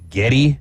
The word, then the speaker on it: Geddy: But because his grandma, who's French Canadian, pronounces the name Gary Geddy.